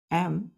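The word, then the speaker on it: acme: है बच्चों ए सी एम ई ए सी एमई इसको क्या पढ़ते हैं बच्चों आमी क्या पढ़ते हैं एमी एमी यहां पे सी साइलेंट हो जाता है बच्चों उसको पढ़ते हैं एमी है ना तो क्लाइमेक्स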